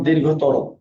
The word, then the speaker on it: দীর্ঘ: দীর্ঘ ই থাকলে রস্যই হবে, রেফ থাকলে রয় হসন্ত, শব্দের শেষে অ থাকলে হবে ওকার।